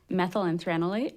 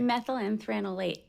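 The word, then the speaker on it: methyl anthranilate: Methylenthranolate. So let me try to say that. Methyl and anthranolite? Is that right? Methylenthranolate.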